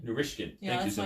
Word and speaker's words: Narishkin: How do I pronounce it? Narishkin. Narishkin.